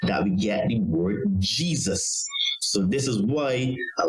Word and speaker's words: Jesus: Therefore, the both J and I used to be the Y sound, as in the word yes. So in Greek, Eseus was pronounced Jesus. And then in Latin, Isus, and you will pronounce it as Jesus with a Y.